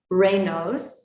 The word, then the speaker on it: Raynaud's: People actually mispronounce that all the time, but it's pronounced Raynaud's.